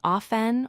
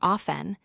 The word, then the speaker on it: often: The correct pronunciation is often or often. Do not pronounce the T sound. The T is silent in this word.